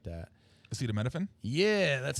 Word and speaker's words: acetaminophen: Acetaminophen? Yeah, that's how you pronounce Tylenol.